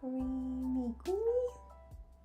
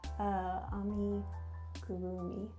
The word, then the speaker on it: amigurumi: Arimigumi? I was way off, guys. It's amigurumi.